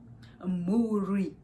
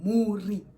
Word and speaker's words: mhuri: Mhuri. Say Mhuri.